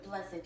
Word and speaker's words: blessed: years are blessed years, even though Blessed. it's blessed. I I like that 2 syllables. Blessed. Even Blessed. though, yes, blessed or blessed, you know, depends on Where you are.